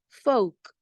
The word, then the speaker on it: folk: the next one is folk folk now you have l k there but the L is silent giving us only the C Sound the next word is